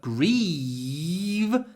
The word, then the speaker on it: grieve: the vowel sound grief the vowel is short before an unvoiced F grief grief grief but grieve there's a lot of Y before the voice sound V grief grieve grief grieve so actually the sound at the end the F and the V you can't really hear them but the vowel changes because of the different sounds at the end of the word grief short vowel grieve